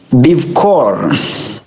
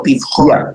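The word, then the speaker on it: בבכור: Bivkor. Be careful with our chafs and our kafs. Bivkor. There you go, bivchor.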